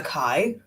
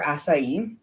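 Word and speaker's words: açaí: at Starbucks that one the amount of people come in and saying Kai for asai oh yeah they used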